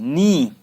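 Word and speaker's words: knee: KNNE, नी, घुटने को, sorry यहाँ के की लिख दिया मैंने, KNE, नी मतलब घुटना, के साइलेंट है, नी।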